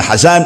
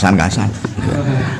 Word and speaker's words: Hasan: Hasan qala inna ahsanal hasan al-hulukul hasan wa qala hadza hadisun hasanun. Jadi Hasan semuanya. Jadi bacanya yang kena ojo kasan. Anil Kasan, an Abil Kasan, an Jaddil Kasan. Hasan.